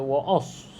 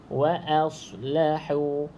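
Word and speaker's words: وَأَصْلَحُوا: tebal waahu walahu okey tak boleh baca waos Sebab Dia a bukan o a Oke bukan o Oke O ni salah jadi bacanya wa wa wa aslahu wa aslahu Oke sekali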